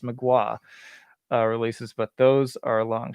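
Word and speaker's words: Mgła: despel omega or magua which i'll say correctly now i got schooled by metal forge they told me it was pretty pronounced magua releases but those are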